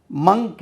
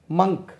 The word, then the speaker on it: monk: மங்க், இது கன்னியாஸ்திரி, நன், NUN, நன். மங்க், துறவி, மங்க்.